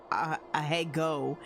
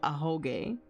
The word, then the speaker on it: Ahoge: I said Ahego. So I pronounced it wrong still, but I didn't say Ahegao. I just put an E instead of an O. Ahoge.